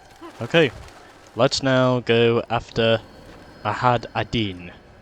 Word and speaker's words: Majd Addin: let's now go after i had a deen as which i have learned that is what the correct pronunciation is although first of all